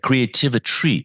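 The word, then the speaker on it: Creativitry: You just find creativity spelled with a t r y at the end. Rhymes with chemistry.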